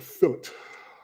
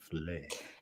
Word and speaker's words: filet: Ugh, fillet. Sound like Carol Lion on the Wizard of Oz. Courage. Fillet. It's a French word. You should try to pronounce it the way the French say it. Filet.